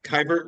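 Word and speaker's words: Keibert: his catcher because I just had a trouble pronouncing his first kber kebert kber yeah kber kyber kybert okay kybert Ruiz as his catcher now you can have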